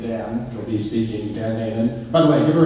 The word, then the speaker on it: Nainan: Nainan. All right, Nick, it's Nainan. Nick, you was asking me how to pronounce it.